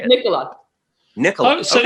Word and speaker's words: Nikola: It's not pronounced Nikolai. No, it's not Nikolai or Nicola or. Really? I never Nikola. knew that. I always say it to rhyme with the cough drop, you know, Ricola.